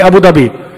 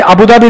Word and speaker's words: Abu Dhabi: Sir, how do you say Abu Dhabi? Right? Everybody keeps correcting me. I say Abu Dhabi, they go la la la la la.